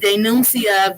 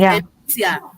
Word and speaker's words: denuncia: The way he said denuncia, violencia, that's not Spanish. It's to be denuncia, violencia, right?